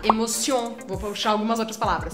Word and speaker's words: émotion: E também, normalmente, as palavras em francês, a sílaba forte é a última. Legal. Então aqui a gente vai puxar. Então aqui a gente vai puxar émotion.